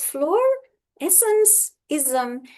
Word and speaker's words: Florescencism: Many people sometimes find it a bit difficult to pronounce. So, it's fluorescencism.